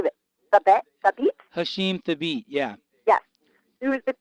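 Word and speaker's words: Hasheem Thabeet: Center Hashim how do you say itet theit Hashim theit yeah yes who is the currently the tallest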